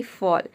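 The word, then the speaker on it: fall: Next rule है, rule number 5 है, यदि किसी वर्ड में ए के बाद अगर डबल एल हो तो ए को हम औ प्रोनाउंस करते हैं, जैसे कि फॉल।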